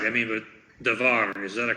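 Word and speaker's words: דבר: I mean, the R on the end is not really ra, but most Americans pronounce it that way anyway. Most Americans will read it davar. Even Americans who have lived in Israel for 30 years, they'll still say davar.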